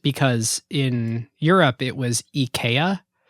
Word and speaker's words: IKEA: in Europe it was eeka the way you would pronounce it as a Swedish person is Ika and the ad campaign they decided Americans are just going to pronounce it Ikea so let's lean into